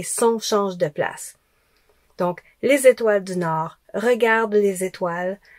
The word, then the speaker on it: les étoiles: Donc, on ne dit pas les étoiles, on ne dit pas les étoiles, on dit les étoiles. Les étoiles. Donc le z, il va avec étoile.